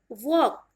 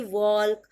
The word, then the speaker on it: walk: इन the same way next word is वॉक, WALK, वॉक, वॉकिंग, ही इज वॉकिंग, ही वॉक्स, न कि ही वॉल्क और ही इज वॉल्किंग, clear है। एल आपका silent होगा।